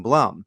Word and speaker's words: Blum: states so so but she prefers the the Hebrew pronunciation of Bloom rather than Blum so when she introduces